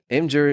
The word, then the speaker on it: Imgur: I call it Imgur. Yeah, I think it's Imgur, like the giraffe. You know, the M giraffe was like a thing.